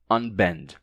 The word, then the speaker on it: unbend: Então, por isso temos palavras como unpack ou unbend, mesmo tendo um P e um B depois. O N se mantém, certo? Fica mesmo unpack, não unpack, mas unpack, unpack e unbend, sem assimilação, tá?